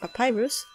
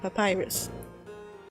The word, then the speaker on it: Papyrus: but maybe you've noticed, I and many other people pronounce his name as Papyrus. However, the Japanese translation renders his name as Papirusu, which is closer to the papyrus pronunciation which some people use, and by the way, this is how I initially thought his name was pronounced.